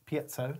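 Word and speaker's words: piezo: piso Peto P piso if you're American it's piso hey piso if uh if you're England English it's PTO PTO it is PTO yeah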